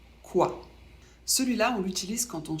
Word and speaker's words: quoi: fait le son a c'est un ou suivi d'un a prononcé assez rapidement le tout fait quoi celui-là on l'utilise quand